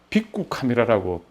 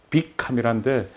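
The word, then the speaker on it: ビックカメラ: 빅구 카메라라고 빅 카메라인데 이제 일본 사람들 발음은 빅구 카메라라 그러더라고요.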